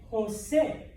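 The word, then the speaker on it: José: okay so like j-o-s-e that name is what Jose it's not Jose Josie Joe I guess you can call him Joe uh but it's Jose okay so open mouth push your breath out okay Jose all right um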